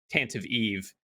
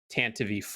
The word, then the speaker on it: Tantive IV: He's like the Canon Master at Lucas Film and I said Tantive IV and it's Tantive IV or something like that. I always thought the IV was yeah like in front of the the number one